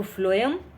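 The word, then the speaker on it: phloem: तो फ्लोएम sound कैसे आ रहा है? एफ से लग रहा है। भले ही ये पी से शुरू होती है स्पेलिंग लेकिन एफ फ्लोएम और फूड की ट्रांसपोर्टेशन करता है ये मेनली।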